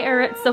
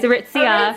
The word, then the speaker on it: Aritzia: this is Vanessa she's going to do my aritza haul for you guys aritzia sorry I keep on saying it wrong or